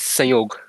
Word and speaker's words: Sanyog: Yes, it's Sanyog. The N is silent. It's silent, so Sanyog?